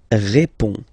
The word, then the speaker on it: réponds: Je réponds. Je réponds. Okay, so you can see that D and S here are not pronounced.